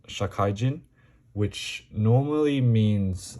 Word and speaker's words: 社怪人: This is a chapter that I believe is pronounced Shakaijin, which normally means like a working person, salaryman type of thing.